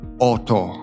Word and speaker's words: Auto: Auto, Auto, Name, Name。